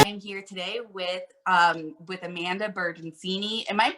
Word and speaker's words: Bertoncini: They do say Bertoncini, and I'm like, well, you're technically right because in Italian, pronounce when it's like a ci, it's chi.